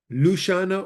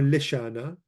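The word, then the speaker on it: ܠܫܢܐ: Lushana or lishana are different ways to pronounce tongue, like the organ, or language.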